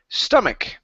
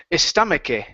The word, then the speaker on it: stomach: to uh the word stomach now end on that k sound here you said stomach okay the word is stomach okay stomach good good